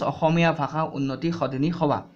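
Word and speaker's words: Asamiya Bhasha Unnati Sadhini Sabha: The pronunciation differs in Assamese and also in English. The true pronunciation is Ahomia Bhasha Unnoti Sodhini Sabha or Abha Ukha.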